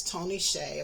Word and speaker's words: Hsieh: But the correct pronunciation of Tony's last name is Tony Hsieh.